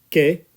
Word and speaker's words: qué: I that's it and remember the first word K not qu so let's try it